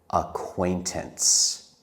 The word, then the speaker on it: acquaintance: Before we end this video, I want to practice the word acquaintance. It is a hard word to spell, but let's talk about how to say it. We say it in three parts. Acquaintance.